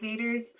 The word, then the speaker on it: Vaters: Like Barrett said, my name is Vaters. Yes, pronounced like Darth Vader.